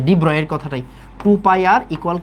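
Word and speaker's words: de Broglie: তারপরে ডিব্রয়, ওকে, এটার অ্যাকচুয়াল উচ্চারণ হচ্ছে ডিব্রয়। তো ডিব্রগলি কি বলছে?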